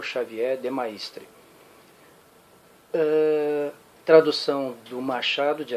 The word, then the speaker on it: Xavier de Maistre: o Xavier de maistre pelo menos é assim que eu pronuncia o nome do carro como eu disse alguns vídeos atrás eu sou brasileiro se lá na terra dele ele chega Xavier de mestre problema é dele para mim ele é